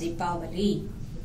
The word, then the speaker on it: Deepavali: a ray you know it's arrangement of lights so it is supposed to pronounce as deali and the oil bath